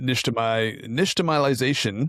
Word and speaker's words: nixtamalization: But you go through the nixtamalization. I think I'm pronouncing that right.